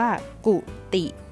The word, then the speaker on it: กุฏิ: ด้วย กัน นะ คะ อัน นี้ อ่าน ว่า กุฏิ กุฏิ ปกติ ก็ คือ ที่